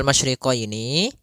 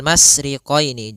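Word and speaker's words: مشرقين: masriqaini pada lafal masyriqini maka di sini ada huruf syin maka kita harus membacanya dengan adanya sifat tafasyi Apa itu tafasyi tafasyi adalah salah satu sifat yang terkandung di dalam huruf syin yaitu menyebarnya suara sehingga Jangan dibaca rbul masriqini jangan dengan huruf Sin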